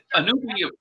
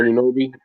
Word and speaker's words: Anunoby: Gideon says that the Raptors would have beat the Warriors anyway, even if Anunoby, how is his name, was healthy.